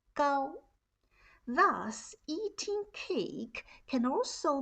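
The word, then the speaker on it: 糕: away and cure disease in chinese cake has the same pronunciation as height bows are pronounced as gao thus eating cake can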